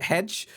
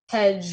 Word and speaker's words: Hegy: So uh I believe I'm going to pronounce this band name wrong so much because Hedge Hedge Hedge is uh Hungarian for mountain.